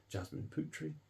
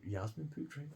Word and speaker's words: Yasmin Putri: Taylor uh with art and illustration by um Jasmine putri um I'm oh Yasmin putri I'm sorry about the pronunciation there um and that is Dark Knights